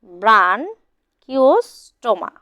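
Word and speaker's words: Branchiostoma: লেজ এটি মাথা সিফালোকডাটার উদাহরণ হচ্ছে ব্রাঙ্কিউটোমা আমি উচ্চারণটি আবার বলে দিচ্ছি ব্রাঙ্কস্টোমা সিফালো করাটার উদাহরণ হচ্ছে ব্রাঙ্কিওমা এই নামটি ভালোমতো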